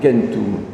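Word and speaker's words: centum: Le chiffre 100, il ne se prononce pas du tout comme en latin, c'est kentum.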